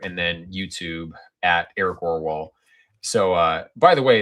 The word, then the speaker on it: Aarvoll: What The pronunciation Orwall is really how like my screen name should be pronounced if we were all Norwegian.